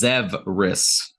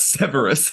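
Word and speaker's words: Zvris: just hand them over it is spelled z-v-r-i-s zevris not Severus face whatever right zebras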